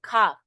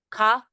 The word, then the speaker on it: cough: do you have a cough too okay cough right cough yeah all right I'll give you some cough syrup too okay cough cough because the G and H is pronounced like a f remember remember G and